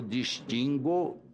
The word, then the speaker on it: distingo: Quando conjugamos um verbo como extinguir ou distinguir, nós dizemos eu distingo e não eu distingo-o, como eu digo eu extingo, eu arguo.